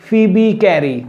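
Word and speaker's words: Phoebe Cary: Right, ठीक से pronounce कीजिए इसको। This is फीबी कैरी। बच्चे गलतियां करते हैं इसको बोलने में भी।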